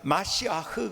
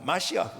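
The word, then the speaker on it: מָשִׁיחַ: 그러니까는 여러분 우리가 메시아라고 하지만은요, 구약의 원래 히브리어의 발음을 그대로는 마시아흐 그럽니다. 마시아흐.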